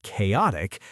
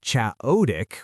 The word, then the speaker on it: chaotic: You can know the word chaotic, but if you say chaodic with the stress on the wrong syllable, it sounds confusing.